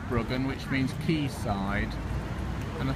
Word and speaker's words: Bryggen: recording today is called brogan i think it's pronounced bruggen which means keysight and